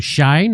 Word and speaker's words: Shein: Other e-commerce websites like Shein or Shine, I don't know how you say that, and Temu, is that how you say it?